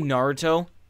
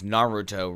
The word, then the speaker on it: Naruto: that but like yo it's pretty widely known that it's Naruto right they say his name Naruto on the show they never say they never say Naruto on the show they go Naruto which the Sasuke he's